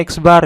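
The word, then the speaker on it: x̄: Rata-rata hitung atau X bar, jadi ini bacanya X bar ya, adalah perbandingan antara jumlah nilai data dengan banyaknya data.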